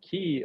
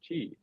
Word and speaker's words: Qi: the company was called Chi capital and if you know key like Qi is actually pronounced Chi and the same day